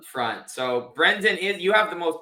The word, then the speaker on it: Brendan: and sometimes I think people get caught saying brand Brandon even though there's an e there um I really